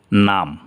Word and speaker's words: numb: কিন্তু এর পরে যদি বি থাকে, যেমন NUMB, তাহলে এই জায়গায় এর পরে বি আছে, তাহলে বি উচ্চারণ হবে না, তাহলে এটার উচ্চারণ হবে নাম।